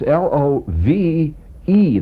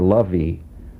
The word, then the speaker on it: love: look it up it's l o v e there's an e on the end and that throws many of you I know in this